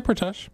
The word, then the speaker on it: Pratesh: However, Doug said it. I say Pratesh. There you go. So that's that's the correct way to say it.